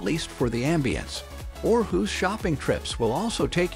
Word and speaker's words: Aarhus: To help you blend in with the locals, it's pronounced Aarhus rather than Aarhus.